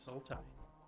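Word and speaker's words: Sultai: uh black green blue starts with a s rhymes with multi Soul tie it is soul tie there is one that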